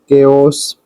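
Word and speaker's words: chaos: कुछ Greek from Greece country. शब्दों में सीएच का उपयोग होता है। तो इसका उच्चारण अक्षर का होता है। वह किस प्रकार से इसके हिसाब से हम जान लेते हैं। जैसे कि सी एच ए ओ एस के ओस।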